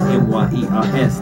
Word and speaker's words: Myers: M-Y-E-R-S. That's Myers. For those, I just spell it because you might not type it right.